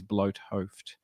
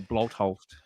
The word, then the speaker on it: Bloothoofd: But the pronunciation, or the anglicized pronunciation, is Bloothoofd. Bloothoofd. Bloothoofd. You can call me. You can just call me. That's fine. Is there a traditional pronunciation? Yeah. It's sort of more Bloothoofd. Bloothoofd. So Bloothoofd. So it comes from the back of the throat more.